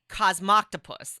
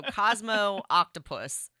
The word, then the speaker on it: Cosmoctopus: games and it's cosmoctopus okay cosmoctopus I'm pretty sure that's how you pronounce it so Cosmo octopus right yeah okay and